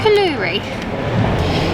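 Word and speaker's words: koulouri: is in a minute the woman in the shop taught me how to say it it's kaloori she also told me that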